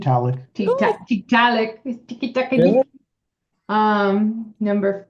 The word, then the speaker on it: Tiktaalik: Tiki taka liki. Tiktaalik.